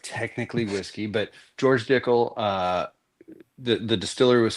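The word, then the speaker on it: Dickel: It's Dickle. It sounds like tickle, but it's different.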